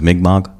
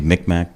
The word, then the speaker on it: Mi'kmaq: My great-grandmother, we believe, was Mi'kmaq. A lot of people say Micmac, but the way to pronounce it, and those are the native peoples from up in eastern Canada, Maine area.